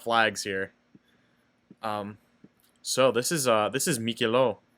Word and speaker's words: Miquelon: So this is Mikilo. I think it's pronounced Mikilo. I don't think you pronounce the N because it's whatever.